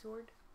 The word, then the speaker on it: sword: That's how it's said. Sword is how it's said. Emphasis on the W. Emphasis on the W. That's how it was said in Old English, and people just got lazy. That's why silent letters exist.